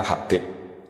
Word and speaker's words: Habib: Itu di harokatnya kitab itu ada yang nulis Hubab. Yang benar, yang benar itu bacanya Habib.